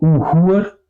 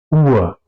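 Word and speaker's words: Uhr: Aquí igual, no digo uhur, digo ur, ¿ok?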